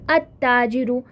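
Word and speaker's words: التاجر: इसी तरह अगर आप हरूफ शम्सी को चुनोगे तो अल प्रोनाउंस नहीं होगा, बल्कि वो जो जिस लेटर से वो शुरू होगा ना उस पर तशदीद आके, शद्दा आके उसको अटैच करके हम पढ़ेंगे, जैसे अत्ताजिरु।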